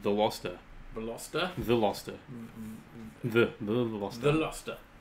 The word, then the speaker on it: Veloster: and Mafia some Boys World says, Veloster, it's pronounced the Loster.